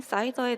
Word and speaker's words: SIDR: 먼저 확장 가능한 인텐트 기반의 라우팅인 사이더에 대해서 이야기를 해볼까 합니다. 자, 사이더는 CIDR 사이더와 발음이 똑같죠?